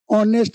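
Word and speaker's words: honest: ईमानदार कैसे बनें उच्चारण? ऑनेस्ट में, हम हैं एच'(एच) ध्वनि मैं इसका इस्तेमाल नहीं करता।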